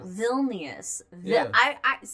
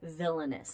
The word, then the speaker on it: Vilnius: Oh, Vilnius. But I heard like villainous. Like, that's probably villainous. That's probably how I did pronounce it.